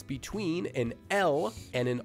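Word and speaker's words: ㄹ: the sound would become la. La. La. And one more time. La. Notice that it's not la, and it's definitely not raw.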